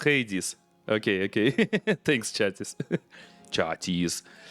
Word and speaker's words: Hades: Uh, cuz I forgot how to how to pronounce it correctly. So, it's Hades.